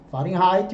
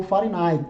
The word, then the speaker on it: Fahrenheit: Fahrenheit ou Fahrenheit, tá? Pode usar aí pronúncias dentro dessa linha, Fahrenheit ou Fahrenheit. Então, TC, temperatura em Celsius, TF, temperatura em Fahrenheit.